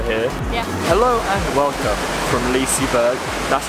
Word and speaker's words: Liseberg: ago we were here hello and welcome from Liseberg that's how you say it apparently and it's